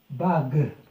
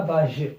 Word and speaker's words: bague: La bague. On ne dit pas la bage, parce que le G, il est suivi d'un U, donc se prononce G plus le E.